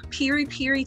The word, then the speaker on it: piri piri: So today we are going to be making piri piri chicken.